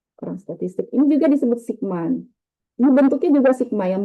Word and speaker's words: sigma: Ini bacanya adalah sigma, ya. Bacanya sigma juga.